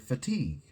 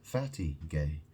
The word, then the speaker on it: fatigue: Um, you know, you know, like the word fatigue, you know, fatigue means tired. Um, but you know, some people might uh pronounce it fatty gay.